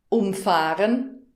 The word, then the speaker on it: umfahren: Umfahren, umfahren. Das ist das Beispiel vom Intro und ganz witzig, weil es das gleiche Wort ist, aber unterschiedlich betont wird und eben eine gegenteilige Bedeutung hat.